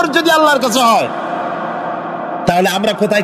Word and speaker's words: আল্লাহ: আল্লাহর কাছে হয় তাহলে আমরা কোথায় কি করি তিনি